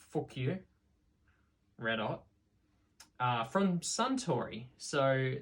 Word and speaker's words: Fukuyo: Basically pronounced Fukuyo.